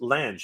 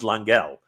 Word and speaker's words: Lange: My last name is pronounced Lange, like the word. Oh, Bang. Lang. Oh, Lang. Okay, sorry. My apologies, my friend. My last name is pronounced Lang, like the word bang.